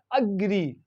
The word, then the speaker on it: agree: A is pronounced in this word A, and it is very short A. It is like schwa sound. Okay, it gives schwa sound. So how do we pronounce? This is agree, agree.